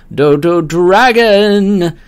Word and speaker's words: Dodo Dragon: final boss theme called dodo Dragon I have to pronounce it with the emphasis on the dragon because it's in all caps in the song title as with Mark of